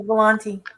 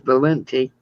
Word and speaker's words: Valenti: I said it right. I said Volante. Yeah, you did. No, actually, it's Valenti.